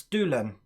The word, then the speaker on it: Dolan: It's Dolan. The OA sound.